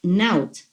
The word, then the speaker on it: Not: And over here I have written like Naut, N-O-T, pronounced Naut. It means I am.